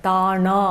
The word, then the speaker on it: தானா: Okay, இப்போ வந்து difference பாருங்கள், தானா அப்படி இல்லை, தானா. ரொம்ப மென்மையாக நுனி நாக்கிலிருந்து வர உச்சரிப்பு தான் இந்த வார்த்தை.